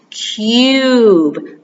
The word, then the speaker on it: cube: of those words we that's one of those words with the y sound in it okay so here it is we don't pronounce it cube we pronounce it cube cube a cube kubo right